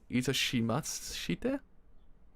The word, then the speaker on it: itashimashite: Is it doshimaste?